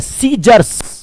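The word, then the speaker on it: scissors: सीजर नहीं होता है। क्या होता है? सीजर्स।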